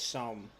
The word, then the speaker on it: Somme: Wandy is saying that it is Somme. That you said it correctly the first time.